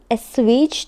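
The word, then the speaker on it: assuage: The court said may एसवेज the hurt feelings of the farmer. तो देखिए, ये जो ESSUAGE लिखा है इसको हम प्रोनाउंस करेंगे एसवेज की तरह, और इसका क्या मीनिंग है ये अब हम देखते हैं।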